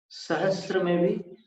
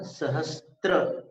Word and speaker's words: सहस्र: सहस्र में भी इतना ध्यान रखना, सहस्त्र ये अशुद्ध उच्चारण है। सहस्र स में मात्र र है, त्र नहीं।